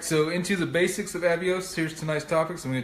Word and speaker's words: Avios: And if you're brand new to this, Avios is what British Airways calls their miles.